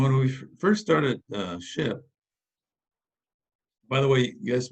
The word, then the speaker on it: SHPE: was the was society of hispanic professional engineers pronounced ship with the uh shpe the first name or